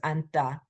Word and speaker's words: 앉다: When it's followed by ta, you don't pronounce the second final consonant. It's just anta, anta.